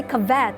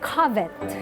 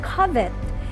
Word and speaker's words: covet: And I said, "Ma'am, you don't say covet. According to the dictionary, it's covet." And she didn't believe me because Filipinos will say covet. And I said, "Ma'am, we have to pronounce it properly. It's covet."